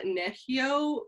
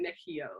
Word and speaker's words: Nehiyaw: you say it uh neshio creative i know it's spelled like nechi yaw but you say it nichio nahio creative perfect and